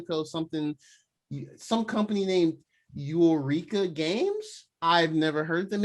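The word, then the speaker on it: Yooreka: something some company named eureka games i've never heard them it's not even spelled like eureka it's spelled like y o o r e k a game ain't got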